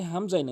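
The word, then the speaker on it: همزة: আইনের জায়গায় হামজাইন উচ্চারণ করে। এটা হামজা হলকের শুরু থেকে। হামজা হামজা হামজা।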